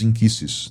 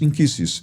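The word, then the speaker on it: nkisi: E você falou dos inquisses, né? Eh, começa a palavra com N, né? N K I S I, né? Isso. Porque a pronúncia do N da linguagem queimbundo é in.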